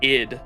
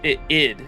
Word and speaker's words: Id: it should I hear It rhymes with kid, lid, or rid. So, it is id. It should be id, wouldn't it?